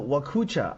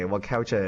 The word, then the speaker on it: Wakaucha: Crypto Wakucha. I'm saying it right? Wakucha. Wakaucha? Wakaucha's, hey, that ruins my flow. That makes me sad. But okay, Wakaucha it is.